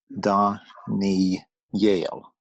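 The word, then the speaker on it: דניאל: It's really funny because this word, it seems to be pointed incorrectly, but that's how it is. You would expect it to be da, ni, el, and el to the tzere to be on the aleph.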